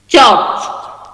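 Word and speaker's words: church: चर्च। Okay, चर्च को अगर करेंगे तो ट्रांसक्रिप्शन मतलब कि अकॉर्डिंग टू फोनेटिक्स, ये जो रॉ है ये साइलेंट हो जाएगा, यू वाला जो है ये उल्टा ई होगा, डबल डॉट।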